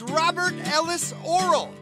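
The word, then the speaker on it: Robert Ellis Orrall: you've probably never heard before this time it's robert ellis oral yeah i said it right robert ellis oral here we go i had the affection my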